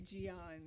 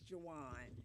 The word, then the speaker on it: Jawan: And just for everyone out here looking at me, when you say Gian, my correct pronunciation is Jawan.